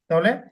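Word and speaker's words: طه: হা ইয়া আইন সদ তাহলে দেখবেন এটা আপনার জন্য সুবিধা হবে আরক ইনশাল্লাহ তারপরে এটা কি কি অক্ষর আছে ত কয় হারাকাত টান ত বেশি হবে না কিন্তু তহা তহা সূরা তহা কোরআনে একটা সূরায়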